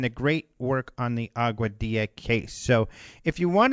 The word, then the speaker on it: Aguadilla: It's a little difficult to spell, although it's spelled just like it sounds. And as you can tell, I love to say the word Aguadilla.